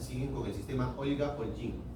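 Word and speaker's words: OLGIM: con el sistema Olga Olgin. Olga, así como se escribe, Olga y Olchin. O L G I M. Olga Y Ochín.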